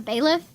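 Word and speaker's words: bailiff: How to pronounce pronunciation. Baleiff. It's a baleiff. Baleiff. Yep. Okay. So, I've been saying that right and wrong at the same time.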